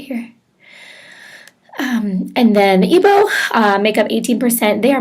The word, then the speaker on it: Igbo: The 3 major ones are the Hausa Fulani, the Yoruba, and the Igbo, is how you say that.